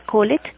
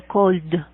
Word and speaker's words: called: El pasado de llamar no se dice called, así como se escribe, sino called. D. Al final de la L, después pongo el sonido de la D.